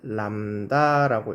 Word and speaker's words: 람다: 파장을 기호로 쓸 때는 이런 식으로 쓰고 요거를 읽기는 람다라고 읽어요.